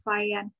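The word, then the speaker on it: Fajans: Teori polarisasi disampaikan oleh ilmuwan India namanya Kashmir Vayan. Tulisannya Vajan, tapi bacanya Vayan biasanya.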